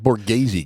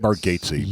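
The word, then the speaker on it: Bargatze: It's that Borgghazi guy, right? Is that how you say his name? Nate Margates. Nate Bargatesy, which I've watched some of his his comedy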